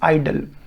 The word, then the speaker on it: idle: इसकी और इसकी प्रोनाउंसिएशन सेम है, they both have same pronunciation, that is आइडल।